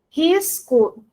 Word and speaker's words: risco: O que acontece na pronúncia? Isso, o S é pronunciado, ótimo. Então, veja que existe pronúncia da letra S, né? Risco, certinho.